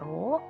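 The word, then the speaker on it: ρ: Nah, untuk rumusnya sendiri di sini ada R sama dengan ini dibacanya rho dikali L per A.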